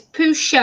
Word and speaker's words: Pusha: As I keep pronouncing it wrong, it's not Pusha, it's Pusha.